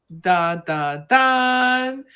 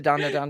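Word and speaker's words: Dandadan: I say da da dan, but Okay, people so I was say saying it wrong. dan. I'm like, I was saying no, it's dan gotta be dan da dan.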